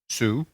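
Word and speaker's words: Soo: better because the guy's name, let me just spell it for you. His first name is D-O-O. Do. His middle name is S-O-O. Sue.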